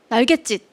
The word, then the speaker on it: 날갯짓: 그리고 짓이 날개짓 이렇게 된소리로 발음이 돼요. 그렇죠? 그래서 이런 경우에 사이시옷을 붙인다에 해당하는 사례예요. 날갯짓은. 날갯짓.